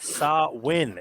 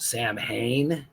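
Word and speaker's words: Samhain: up this weekend NWA saw win if I'm pronouncing that correctly yes it is sin it looks like it's pronounced Sam Hayne but it's actually a Gaelic ancient pronunciation and uh sin is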